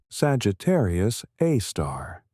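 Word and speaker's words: Sagittarius A*: A super massive black hole called Sagittarius A. Pronounced Sagittarius A star.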